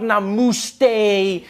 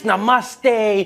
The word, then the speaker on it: Namaste: coming on like dude it's not Nam it's Namaste who messes up Namaste